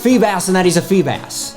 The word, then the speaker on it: Feebas: on Milotic Phoebus so I know I'm aware guys that it's pronounced fee bass and that he's a Feebas but when the love of my life pronounces it phoebis that becomes music to